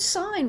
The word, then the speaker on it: sign: In the word sign, we don't hear a G at all, do we? But when we look at another word that is in the same morpheme family, signature, then that G is pronounced.